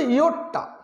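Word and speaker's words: yotta: প্রথমে আমরা বলছি এটা এটা উচ্চারণটা হচ্ছে ইয়োটটা, উচ্চারণটা কী, উচ্চারণটা হচ্ছে ইয়োটটা, তাহলে ইয়োটটাকে আমরা প্রকাশ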